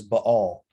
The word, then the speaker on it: Baal: introduce bell worship now technically the the proper pronunciation for this god's name little g is ba all but all but i'm going to call him